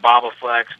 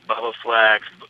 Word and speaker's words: Bobaflex: Bubba set is it has it gotten mispronounced a bunch oh Boba Flex Bubba Flex horse Boflex unfortunately Boflex came out